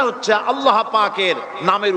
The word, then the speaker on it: আল্লাহ: হয় না কেউ বলে না আল্লাহ আল্লাহ পাকের উচ্চারণটা হচ্ছে আল্লাহ পাকের নামের উচ্চারণ হচ্ছে আল্লাহ মুখটা একটু গোল হয়ে যাবে বলেন আল্লাহ আল্লাহ সুবহানাল্লাহ পৃথিবীতে বিভিন্ন জাতি তার স্রষ্টাকে তারা যাকে